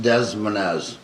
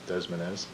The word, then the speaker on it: Des Moines: pronounced Des Moines. Des Moines.